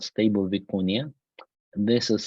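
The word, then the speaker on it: vicuña: a model called stable viconia this is spelled vicunia with a little cap on top so it's Spanish pronunciation but some people spell it with an eye after n in any case it is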